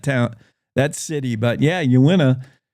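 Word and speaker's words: Uinta: anybody say that town that City but yeah you win a it's just it's little things like that I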